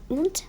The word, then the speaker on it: want: শুধু আমারটা শোনার চেষ্টা করো, উন্ট, এটা কিন্তু ওয়ান্ট না, উন্ট, অ্যান্ড শেষে যদি ইডি থাকে ওয়ন্টেড, ওয়ন্টেড, লাইক দিস ওয়ে।